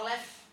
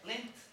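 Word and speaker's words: length: inglês, comprimento, traduzia certo, só que a minha pronúncia era errada. Eu pronunciava left. E é lent, comprimento.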